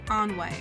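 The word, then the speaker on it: ennui: Onway is how you pronounce it.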